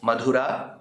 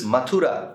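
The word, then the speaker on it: Mathura: In the Dashamascanda, we have now reached the point where Krishna enters the capital city of Madhura, which is Matura in the current form of pronunciation and fights his own maternal uncle Matula.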